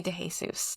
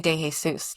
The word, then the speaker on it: De Jesus: Oh my gosh, that's not how you say it. It's De Jesus. De Jesus de Jesus. Yep. It's de Jesus. And I am still learning how to say that last name.